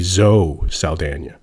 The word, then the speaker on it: Zoe Saldana: zoe saldana and so zoe's name tricks me up because she's got an accent on the n but she doesn't have an accent on the e so it should really be zoe saldana so anyway mark ruffalo